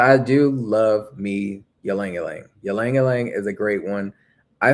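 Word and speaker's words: ylang: It's spelled y a n g. No, not y l a n g. That's how I say it.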